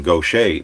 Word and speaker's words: Gautier: mississippi gulf coast to shepherd state park in gautier mississippi i'm finally pronouncing that correctly now when we went on